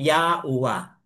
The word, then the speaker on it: Yahuwah: So, dito sa assembly, we call his name Yahuwah.